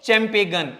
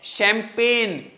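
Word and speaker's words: champagne: चैंपेगन। नहीं भाई, ना मुन्ना ना, ये जी साइलेंट है। शैंपेन पीने की होती, बहुत चमकीली, मदिरा, मदिरा पान, बियर होती एक प्रकार की, तो शैम, शैंपेन, पी ए पे। जी का तो साउंड है ही नहीं, जी के बाद एन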